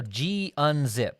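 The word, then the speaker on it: gunzip: anyhow let's unzip it so g unzip or you'll hear me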